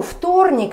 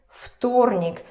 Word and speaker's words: вторник: Вторник. Again, it's just physically hard to say вторник. Вторник. So it becomes unvoiced. Вторник.